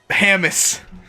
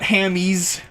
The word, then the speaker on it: Hammis: Like, it's always Hammis. It's not Hammies. Hammis. Makes it sound weirdly, like, I don't know, Scottish or something to pronounce it that way, but at least, so long as it is pronounced ham, though, I am happy.